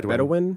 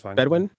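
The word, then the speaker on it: Bedouin: The Palestinian tenant farmers get the land back, but then the bed, how do you pronounce it? Bedwin or Bedawin? Yeah, Bedwin or both is Bedwin. Bedwin. Okay.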